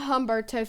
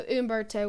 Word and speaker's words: Humberto: It's not Humberto for anybody that was wondering. I think it's Humberto. The H is silent, so Humberto would be what this is going to be called.